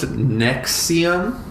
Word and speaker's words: NXIVM: So it's pronounced Nexium.